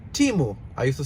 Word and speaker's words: Temu: nice I actually pronounce timu I used to say temu in Spanish is Tamil but actually the right pronunciation it is timu these ones are